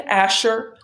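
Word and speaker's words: Ascher: is a textbook it is called Scott and Asher on trust's fifth edition Asher is spelled a-s-c-h-e-r uh Scott and Asher on trusts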